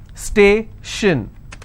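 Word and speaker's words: station: on the previous syllable t i o n again the same example stay shin so i will stress on stay if i have more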